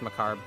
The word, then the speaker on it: macabre: Both jokes fall apart when you pronounce Macabre correctly. Does it? Yeah, it's macabre.